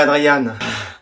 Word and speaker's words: Adrien: Adrien, là je prononce bien? Tu préfères que je dise Adrien ou Adriane? Comme vous voulez. Adrien, ça va? Je préférerais Adriane.